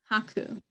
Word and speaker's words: Haku: It sounds like haiku. Hante? No. Haku.